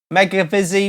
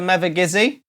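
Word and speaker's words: Mevagissey: Barbara Hicks said she heard someone say making a busy once instead of never gizzy it's like when I'm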